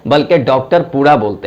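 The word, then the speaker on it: Dr.: होता है तो डीआर नहीं कहते हैं बल्कि डॉक्टर पूरा बोलते हैं लिखें डीआर जरूर लेकिन प्रोनाउंस जो करते हैं वो डी आर नहीं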